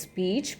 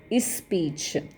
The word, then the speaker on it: speech: They don't pronounce it as speech but is speech. Again they intrude one e before the consonant cluster sa and p. So what happens to the pronunciation? E, sa, p, e, ch. Okay, it becomes is speech. So this is again one variation in the pronunciation, especially by the Hindu and Urdu speakers of English.